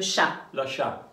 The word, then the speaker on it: chat: Le chat, le chat, voilà. Donc le chat, l'animal, le chat, AT, on ne prononce pas la consonne finale.